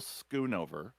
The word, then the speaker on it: Schoonover: Will Skoonover. Ah, it's got a K sound in it, even though it's pronounced it's spelled.